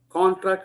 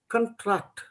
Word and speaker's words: contract: Contract, you use the longer vowel sound. I want you to reduce this vowel sound. If you reduce the vowel sound, what is the pronunciation there? It becomes contract, correct? The spelling is the same, but if you pronounce it differently, the meaning can change.